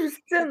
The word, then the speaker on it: Justin: disais bah Non, non, pas c'est Justine! pas ça. Non! Ah, qui le Non! lisait Justin, par exemple, ça c'est Justin. Justin, le N ne se prononce pas, c'est un ouais.